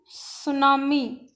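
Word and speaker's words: tsunami: The term सुनामी, ये T silent होता है, इसमें सुनामी है।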